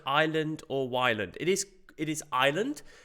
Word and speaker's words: Ylands: it pronounced island or island it is it is island because that's how it used to be spelled in old english with a y but it used to